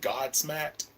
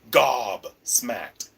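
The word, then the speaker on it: gobsmacked: word I'm looking for Gob smack I keep saying God smacked it's a band Gob smacked Gob like the British saying oh hush your go that means be quiet so yeah I've been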